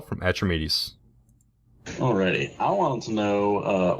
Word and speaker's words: Atramedes: Atramentus? Is that what I said? You said Atramedes or something. Atramedes. Like yeah, there we go. Atramedes. I just ignored it. You said it wrong again.